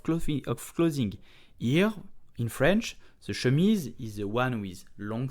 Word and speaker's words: chemise: Today we will learn how to pronounce chemise, which means shirt in French. So let's do how to pronounce it perfectly. Chemise, ŝə.miz. Very slow. ŝə.miz. Chemise. So sh, a light then miz with a z sound.